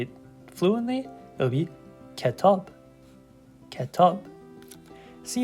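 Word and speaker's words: کتاب: Ke tob, ke tob, ketab. So if I was to put it together and say it fluently, it would be ketab, ketab.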